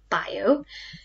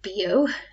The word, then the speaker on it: bio: new here is this it is not pronounced bio it isn't what you pronounce beo but a bit more french it means organic so